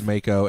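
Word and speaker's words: Maaco: It is Mako, and here's how I know. Because it's M-A.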